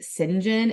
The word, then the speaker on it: St John: are actually her cousins John which was pronounced as like singen in the entire audio book and drove me insane that may be the correct pronunciation but I refuse St John Rivers asked